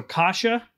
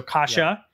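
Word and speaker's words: cassia: issue with it so kasha cinnamon it's kind of like kashi but it's c uh in in pronunciation but not a not a not an e at the end and a so kasha it's c-a-s-s-i-a and then ceylon or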